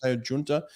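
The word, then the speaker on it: Giunta: then yesterday i did a podcast with matteo junta he's how you pronounce his name junta he is getting married to federica pellegrini in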